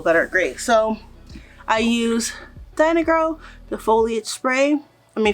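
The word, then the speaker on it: Dyna-Gro: yeah the foliage pro i've been saying it right today i'm glad i filmed this video like a few times today and i said diamond girl a few times so i'm glad i said it right i'm going to slide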